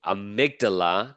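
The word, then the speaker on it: amygdala: a certain way um there is the amydala that's how you pronounce this one the Amala uh that's for emotions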